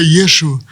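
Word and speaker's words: ישוע: Só aqueles que são mais estudiosos aqui, mas para eles o nome de Jesus é Yeshua.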